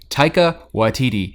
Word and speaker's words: Taika Waititi: i'ma say it once just don't say anything tyka YTD and now you can every time we mispronounce it you just drop it on time